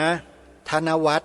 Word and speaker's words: ธนวัฒน์: ที ละ ตัว นะ ธนวัฒน์ สะกด อย่าง นี้ ธ ธง ว แหวน ไม้ หัน อากาศ ทอ ผู้ เฒ่า น การันต์ อ่าน ว่า ธนวัฒน์ แล้ว ก็ นาม สกุล